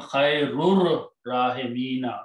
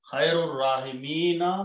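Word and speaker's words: خير الراحمين: When you read together, you do not pronounce this alif. Ar-Rahimina will become Khairur Rahimina. That's the word in the Quran. Anta, O Allah, you are Khairur Rahimina.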